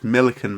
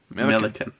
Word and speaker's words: Millican: It's Millican, mate. Millican. Like pelican. But Millican.